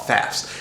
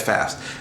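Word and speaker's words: Pfaff's: at this place called Fafs, and basically has a silent P at the front, so it was PFAFF.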